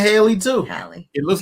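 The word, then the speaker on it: Halle: Is it Holly or Haley? Hallie. Because I did Haley Bailey, and I said that doesn't even sound right.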